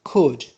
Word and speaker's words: could: Another modal verb which is could. Here L is silent.